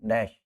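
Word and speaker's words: gnash: वर नेंग एट मी नश की spelling मैंने बताई थी जी एनस उसको गणेश मत बोल देना य गणेश नहीं है नश जी साइलेंट ठीक है आ गया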